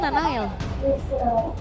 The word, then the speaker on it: Nael: Nael itu dibacanya Nanael. Iya, Nanael. Iya, kalau misalkan sama anak-anak pas lagi nongkrong juga manggilnya Nanael. Iya. Jadi kayak N ada 2 gitu.